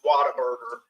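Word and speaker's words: Whataburger: around the world might not know it's called water bger it's pronounced water bger you know but it's spelled what a burer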